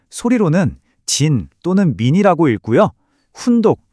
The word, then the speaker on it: じん: 음독 즉 소리로는 진 또는 민이라고 읽고요.